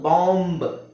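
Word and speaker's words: bomb: ಬಂದಂಗೆಬಿ ನ ಸೈಲೆಂಟ್ ಮಾಡಬಹುದು ಫಸ್ಟ್ ಯಾವುದುಎಂಬಿಎಂಬಿ ಇದನ್ನ ನಾವು ಬಾಂಬ್ ನಾವು ಏನಂತ ಹೇಳ್ತೀವಿ ಬಾಂಬು ನಾವು ಬಾಂಬು ಅಂತ ಹೇಳ್ತೀವಿ ಬಾಂಬು ಬಾಂಬ್ ಅಂದ್ರೆ ಬಾಂಬ್ ಕೇಳಿದ್ರಲ್ಲ ಬಾಂಬ್ ಇಟ್ರು ಬಾಂಬ್ ಇಟ್ಟು ಬಾಂಬ್ ದಾಳಿ ಬಾಂಬು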